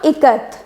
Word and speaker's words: Ikat: So from it you need to take the pronunciation of I so that it will be E, right?